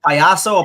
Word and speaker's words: payaso: Like payaso or payasta or something like that. Payaso. That's how you say it.